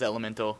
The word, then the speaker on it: Element4l: of Elemental or as some people know it element 4L but the proper pronunciation is Elemental I asked that's true that's true although I